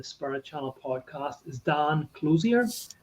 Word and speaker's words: Clouser: But anyway, yes, my guest here today on the Spirit Channel podcast is Dan Clouser. I hope I'm pronouncing that right. Clouser, but that's Clouser.